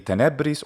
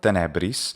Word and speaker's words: tenebris: Now this word could be tenebris or tenebris. Stress on the first or second syllable.